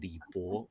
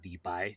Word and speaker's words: 李白: The other being Li Bo or Li Bai, depending on how you pronounce his name.